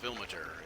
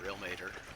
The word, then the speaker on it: Ilmater: And I'm working on a better map actually, but this here is where the Temple of Ilmater is, or Ilmater, depending on how you like to pronounce it.